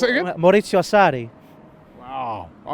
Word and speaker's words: Maurizio Sarri: No, pronounce it again. Maurizio Sarri.